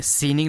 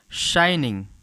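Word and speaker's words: shining: ही सा समथिंग शाइनिंग ध्यान दीजिएगा इसे हम पढ़ेंगे सीनिंग नहीं पढ़ेंगे इसे हम बोलते हैं शाइनिंग यानी कि ही मींस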